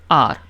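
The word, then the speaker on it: hour: लगेगा N Xmas N आर एन आर फिर आपका है एच ओ यू आर अब इसमें एच साइलेंट है ठीक है ओ यू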